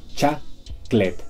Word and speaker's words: chocolate: Tres sílabas, podemos abreviarla a chaclet.